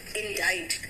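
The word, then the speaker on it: indict: अब यहाँ पे वर्ड आएगा इंडाइट, बेटा यहाँ सी साइलेंट है।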